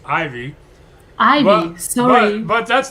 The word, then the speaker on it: Ivey: And, I understand that my family spells it funny, but it's not Evie, it's Ivy.